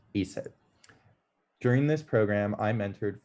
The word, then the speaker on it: ASIT: with careers I founded Alberta students in technology pronounced ESET during this program I'm